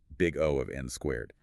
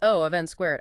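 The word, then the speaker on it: O(n²): n2 for large inputs, we say they have a time complexity of O(n)2, pronounced big O of n squared. Correct. Or sometimes just O of n squared.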